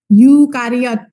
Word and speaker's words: eukariot: pada eukariot pada yukariot jadi bacanya Yu ya yukariot bukan EU eh Yu itu artinya EU